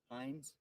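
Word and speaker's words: Heinz: How do you say his last name? Hines. H-E-I-N-Z.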